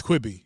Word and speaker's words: Quibi: T-Mobile Tuesday I got six months free of quibby QB whatever I don't know how to pronounce that thing um but I'm like hey yeah is it quibby yeah it's quibby yeah um I haven't watched anything going quick